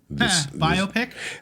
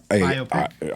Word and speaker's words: biopic: That's how I say it. Because it's a biographical picture. Biopic. Obviously, right? I have heard that some people say biopic, and they're just wrong. And they can live with the knowledge that they are wrong.